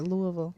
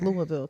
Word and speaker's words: Louisville: up in Louisville am I saying it right Louisville you are Louisville Kentucky yes so when I moved here as a culture shock so I bet but I love the cold chairs but let's go to Louisville real quick Louisville's cool but it's um not